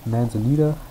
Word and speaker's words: Manzanita: And this one, Manzanita, I'm pronouncing it that way as opposed to the Spanish pronunciation because it's named after the city in Oregon.